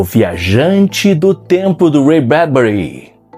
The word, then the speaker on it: Ray Bradbury: eu acabei descobrindo agora, só agora, que a pronúncia correta é Ray Bradbury. E eu vou adotar a pronúncia correta, a pronúncia que é o nome dele mesmo, Ray Bradbury.